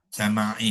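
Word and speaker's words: سماعي: sama'i bukan sam'i, ya, sama'i. Sam'i.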